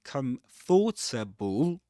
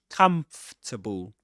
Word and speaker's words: comfortable: It's not comfortable. Even though Even though you see in the spelling four syllables comfortable or fable, but it's pronounced comfortable as three syllables in this accent, of course.